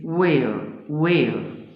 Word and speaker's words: where: بقول this is where ال H silent ما بتتنطقش.